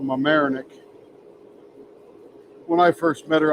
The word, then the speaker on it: Mamaroneck: over there in Westchester, some little town called Mamaroneck. When I first met her, I insulted the family because I pronounced it Mamaroneck, because, you know, to this hick from West Virginia, that's what it looked like, Mamaroneck.